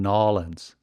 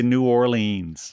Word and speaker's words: New Orleans: Nolens, Louisiana. For all those folks out there that are not familiar with okay, I can say New Orleans. New Orleans. Or New Orleans. Nolens. That's spelled New Orleans.